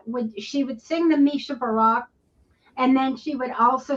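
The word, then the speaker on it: Mi Shebeirach: Um, and uh, I don't know if I can pronounce this properly, but it's me sky barak. Yeah, it's Mishabara.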